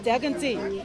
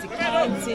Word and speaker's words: Daganty: I said, because Daganty is my traditional name and I respect it. I don't want it to be mispronounced. When I say mispronounced, I mean they call it the county, they mess it up.